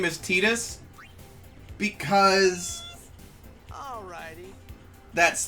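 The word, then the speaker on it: Tidus: I hear the official pronunciation is Titus, Nothing to worry but about.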